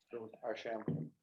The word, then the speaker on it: Archambault: Which syllable do you stress? Archambault.